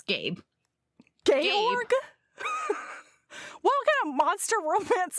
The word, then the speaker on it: Georg: By the way, I almost just called him Georg. His name's not Georg, it's Gabe. Georg? What kind of monster romance are you reading? Georg is like the German version of George.